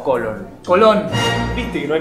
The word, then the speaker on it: Colón: Colón. Te pido por favor, acento en la última voz, tilde.